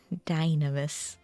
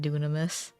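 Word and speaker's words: Dynamis: to go over to dynamus as the englishspeaking people call it I say cuz I play in Japanese and they pronounce it dunamis but I don't know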